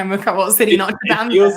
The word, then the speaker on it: Notre Dame: First of all, it's not pronounced Notre Dame. It's pronounced Notre Dame.